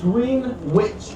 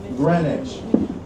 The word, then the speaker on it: Greenwich: If you ever saw Greenwich Village spelled out on a map, it is spelled just like Green Witch Village. But because this is New York and we like to make everything just a little bit harder, we called it Greenwich.